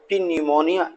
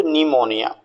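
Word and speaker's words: pneumonia: लिखाई दे रहा है पी एन ई यू एम ओ एन आई a general आप बहुत मिस्टेक करते हैं और प निमोनिया इस तरीके से बोलते हैं तो आपको ध्यान रखना है पी लेट साइलेंट है सस वेरी इंपोर्टेंट वर्ड आप सभी के लिए कंपटीशन में इस प्रकार के वर्ड खूब पूछे जाते हैं जहां पर साइलेंट लेटर्स अक्षर दिए जाते हैं कन्फ्यूजिंग वर्ड्स होते हैं तो पी को छोड़ दे तो निमोनिया नेक्स्ट वर्ड ट इज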